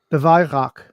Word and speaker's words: Weihrauch: If I'm pronouncing it right, either it is the Weihrauch. So it's WEI apparently.